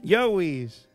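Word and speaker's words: joeys: A las crías se le llaman joéis. Os joéis, no, joéis. Yowis. ¿Eh? Yowis. Se le llama Yowis. Pero se escribe joéis. Claro, joéis. Pero te dicen Yowis.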